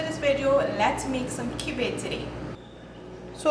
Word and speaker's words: kibbeh: In today's video, we are going to be making kibbeh, or kibbeh as some people pronounce it.